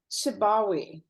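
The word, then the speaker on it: Sibawayh: So, what he seemed to say, his name is Sibawe.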